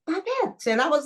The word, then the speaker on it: Babette: teacher said you've already got a French name B bet and I was like is that how you